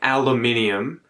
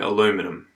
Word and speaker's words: aluminium: It was weird for me to hear Joe say aluminium with this schwa sound in there. I think aluminium. And it's always weird hearing Americans saying aluminum because it's, you know, they've cut a whole bunch of letters out. It's aluminium.